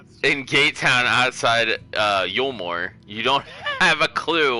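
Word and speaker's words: Eulmore: Elmore is that how you say it Yore yulore okay yulore listen to your pronunciation I don't know how to say these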